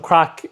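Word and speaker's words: craic: That's how you spell it. C-R-A-I-C, yes, not C-R-A-C-K. Just to clarify that. Crack is fun in Ireland, okay?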